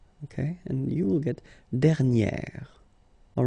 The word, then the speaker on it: dernière: And then second example, dernier. Okay, and you will get dernière.